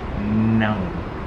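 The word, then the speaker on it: não: able to pronounce it it's more of like a nasal nasalized um sound where you say no no or you get it from basically in the nose it's not the easiest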